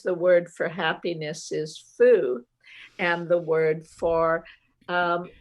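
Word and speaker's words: 福: happiness because in chinese the word bat is pronounced fu and the word for happiness is also foo and playing with words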